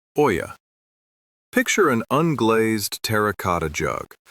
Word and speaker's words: olla: It is called an olla, pronounced oya.